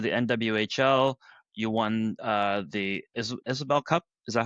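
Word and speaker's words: Isobel Cup: You won the Isabel Cup.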